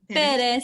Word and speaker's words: Perez: Am I saying your last name correctly? Perez, yeah, you can say Yes, Perez.